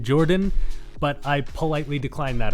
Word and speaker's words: JorPHdan: JorPHdan says that the PH is silent and we're just supposed to call him Jordan.